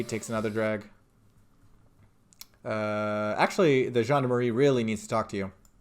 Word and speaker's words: gendarmerie: I don't want to be seen talking to the gendarmerie, if that's okay. I just want to finish my cigarette. That's how you pronounce that.